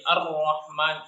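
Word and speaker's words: الرحمن: Lalu dalam pengucapannya itu biasanya yang kesalahan yang sering terjadi, dia tadi fathahnya tidak dibaca sempurna. Jadi Ar-Rahman, Ar jadinya, bukan A. Nah, maka seharusnya kita sempurnakan dulu fathahnya dengan melebarkan rahang.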